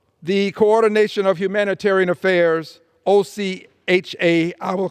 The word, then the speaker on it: OCHA: un's office for the coordination of humanitarian Affairs OC ha I will pronounce it Ocha says as of early February